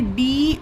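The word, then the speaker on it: do: अब आगे देखिए डी ओ ये होता है डू। ओ को यहां पर उ का साउंड दिया गया। इसका प्रोनंसिएशन हुआ डू।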